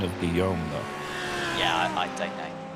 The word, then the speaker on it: Guillaume: Let's talk about the pronunciation of Guillaume, though. Yeah, I don't know. It's Guillaume. Guillaume, okay. Yeah, it's the French version of William.